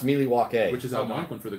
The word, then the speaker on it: Milwaukee: It's pronounced Milwaukee, which is Algonquin for the good land.